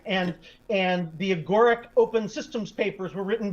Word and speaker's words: Agoric: So now you're the CEO of, I hope I pronounce it correctly, Agoric. How do you pronounce Agoric. it? Yeah. Agoric.